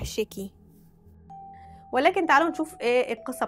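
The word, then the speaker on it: 屍鬼: اللي بعد كده اسمه شيكاي مش عارفه الاسم ده يعني النطق ده صح ولا لا انا كده كده مش يابانيه النطق الصحيح شيكي ولكن تعالوا نشوف ايه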